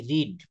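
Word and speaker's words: read: এটার উচ্চারণটা হবে রেড।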